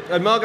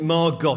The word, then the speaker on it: Margot: Margot Asquith says to her, like, you know, my name isn't Margot, it's Margot. The T is silent.